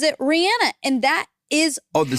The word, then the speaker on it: Rihanna: She pronounces it Rihanna, and that is...